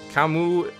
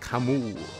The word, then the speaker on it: Camus: fire box to subpoena camu camu is presumably pronounced Camus because that's how the Philosopher's name is spelled by the way I